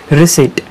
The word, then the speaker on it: receipt: रसीट. आता रिसीट याचं spelling जर तुम्ही पाहिलं तर खूप इंटरेस्टिंग आहे. इथं पहा, RECEIPT रसीट, पण याचा उच्चार मात्र रिसीट असा होतो. पी सायलेंट आहे, कुठेही पीचा उच्चार होत नाही.